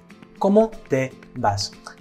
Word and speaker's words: ¿cómo te vas?: That V is pronounced almost like a B, because in English, the letters B and V represent different sounds, don't they? But in Spanish, they actually represent the same sound, so it's something to be aware of.